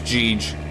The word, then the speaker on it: GG: It's I pronounce it as Geege. Because you say GG, not Gigi.